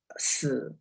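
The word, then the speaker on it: 四: The reason is 4 in Chinese pronounced as si. It's a homonym with death.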